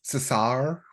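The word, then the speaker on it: César: I believe it's pronounced Cesar because it is French Cesar whatever there's no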